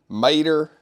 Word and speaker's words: Mater: Here's Bo Peep, we have Wally, Mater, that's how you say it, right?